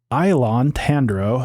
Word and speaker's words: Ilon Tandro: Ilon Tandro, so that's how you say his name. Ilon Tandro and his associates ambush Jadzia Dax in her quarters and attempt to kidnap her.